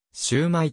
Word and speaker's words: 焼売: や香港では広東語でシュウマイと発音されている日本語は広東